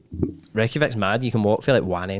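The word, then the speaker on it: Reykjavík: I was in Reykjavik, that's how they pronounce it, in Iceland, not the supermarket.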